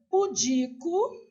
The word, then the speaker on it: pudico: Então, aqui, ó, pudico, sílaba tônica é o di.